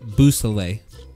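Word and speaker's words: Beausoleil: So I believe it's pronounced Boussalet.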